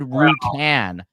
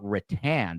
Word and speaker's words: rattan: And you said Rutan. Are you talking about like I call it rattan, but you just said Rutan.